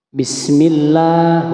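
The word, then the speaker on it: بسم الله: perhatikan lafaz basmalahnya ya di sini dibaca bismillah huruf lamnya dibaca panjang pada lafaz Allah karena situ adalah lam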